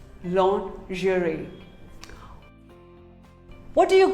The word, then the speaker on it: lingerie: another commonly mispronounced word lingerie well most of us call it lingerie no it is not lingerie it is actually called lingerie say lingerie long jury what do you call